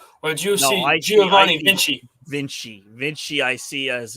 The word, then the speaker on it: Vinci: the funny thing is I said his name wrong one time and one of the people one of the I think Kenny said who I said Giovanni vinky I was like what